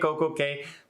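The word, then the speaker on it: CocoCay: So for now, it's Perfect Day at Coco Cay, mostly because it rhymes, right? It rhymes, it's easier.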